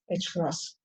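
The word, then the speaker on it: ħ: h cross this is we usually write it as h with a horizontal bar but pronounced as h cross so if i substitute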